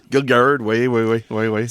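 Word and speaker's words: Gil Gerard: Gil Garard même qu'on le prononce. Oui Gil Garard.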